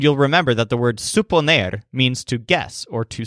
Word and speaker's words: suponer: Remember the stressed syllables sup and ner, and you'll remember that the word suponer means to guess or to suppose.